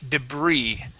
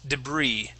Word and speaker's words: debris: tell there um okay now this word would be debris okay that s is silent debris debris okay and uh